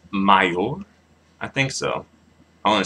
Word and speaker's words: mayor: um since it is since the word Mayor ends in a r which is a consonant the stress falls on the last part the last syllable yeah so may mayor